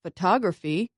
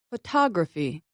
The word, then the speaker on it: photography: stress consonants for instance in the word photography I stressed the second vowel ah I said it louder and longer than the other vowels listen again photography the unstressed syllables are